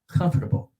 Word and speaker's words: comfortable: And look at this word. It's a difficult word for ESL, comfortable. Comfortable. Spanish speakers or French speakers will normally say comfortable, comfortable, comfortable, comfortable, comfortable, comfortable. We do kind of eat those.